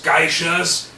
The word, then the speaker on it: geisha: First of all, it's pronounced geisha, meaning something like person of the arts.